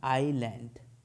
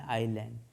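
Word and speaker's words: island: मैन an hour an आइलैंड आइसलैंड नहीं एन आइलैंड अभी exam में आया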